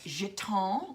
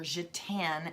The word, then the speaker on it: gitan: So Gypsy Jazz is basically it's known as jeton, which is, or gitan as it looks phonetically, but jeton is the French word for gypsy or manouche.